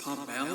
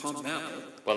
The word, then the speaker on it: Pommel: guilt on her eyes isn't her name supposed to be pronounced pomel yes see then the police showed up behind me then arrested Miss pommel on the spot then brought her back down I could have sworn that her name is pronounced pom well the first time like I like I keep saying the first time she pronounced she pronounced it it was pom she said slay out